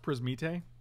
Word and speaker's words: Prismite: really appreciate it uh it's pronounced prismite got the accent on the e wow we're drawing very